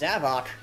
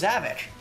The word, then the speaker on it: Zavok: It's Zavok. I thought it was Zavik. Like, Havoc. Zavik. Get it? Like, he causes... Zavik causes havoc. Heh. But, no, it's Zavok. I was just like, what? So I've been pronouncing it wrong this entire time? Apparently, Clement actually looked up the name, and yeah, it actually is Zavok.